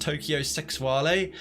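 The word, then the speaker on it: Tokyo Sexwale: It's pronounced Tokyo Sexuale, but it's Tokyo Sex Whale.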